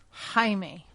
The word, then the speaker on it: Jaime: That is how they pronounce it in Spanish, goober. There's no... Jaime.